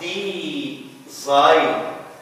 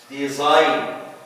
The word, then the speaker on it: design: Or design. Design. We don't pronounce it G، ما بننطقش هنا حرف أو صوت الجا، بنقول sign design كأن حرف الجي كتب ولم ينطق.